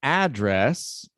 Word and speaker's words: address: this one we have address so a is the stressed syllable in this one address